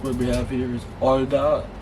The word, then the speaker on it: 얼다: And then the last word we have here is 얼다, which means to freeze, and then as you can see here, it is actually silent again.